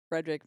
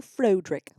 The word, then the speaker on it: Frederick: yeah I just I love the bit where Frederick meets I going the first time and then they go over the pronunciations of their name yeah he's just like